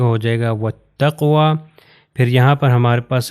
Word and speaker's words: وَالتَّقْوَى: اگلی اگزامپل میں چلتے ہیں، یہ ہو جائے گا وَالتَّقْوَى. یہ واو کے بعد الف اور لام میں یہ پروناؤنس نہیں ہوں گے، تو یہ تے سے مل جائے گا، ہو جائے گا وَالتَّقْوَى.